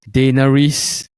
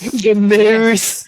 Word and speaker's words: Daenerys: I will choose the Queen of Dragons, Daenerys. How to pronounce her name? The nearest Targaryen. Yes, Daenerys.